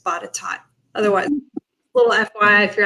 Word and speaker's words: Botetourt: And it looks like it should be pronounced Botetourt, right? But it's Botetourt.